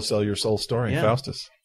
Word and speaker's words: Faust: Little silent movie from 1926, Faust. Faust. Faust. However you want to say it. No, it's pronounced Faust.